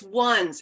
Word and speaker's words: WUNZ: So I'm like, it's WUNZ, it's not onesie, it's WUNZ.